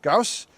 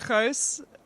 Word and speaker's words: Gouws: Hobbs joined by Bryant field hockey freshman Gauss now that is not the correct pronunciation of your name but I am have